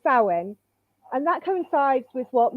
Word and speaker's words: Samhain: So this here is one of those tricky words that you have to learn just how it's said. And it's Samhain.